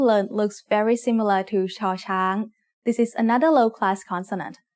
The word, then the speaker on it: ชอช้าง: As the initial sound of a syllable, it makes a sh sound. When it's the final sound of a syllable, ชอช้าง makes a T stop, just like ดอเด็ก.